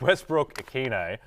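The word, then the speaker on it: Westbrook-Ikhine: season for your Lakers yeah that's right Nick Westbrook Aquino uh have I butchered that no that's great well done yeah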